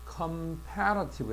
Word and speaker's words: comparative: 그 다음에 요거 보면 comparative. 그러니까 이 동사의 발음과 형용사가 비슷한 거야.